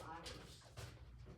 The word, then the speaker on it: Ayers: Is it pronounced Ayers It's Ayers.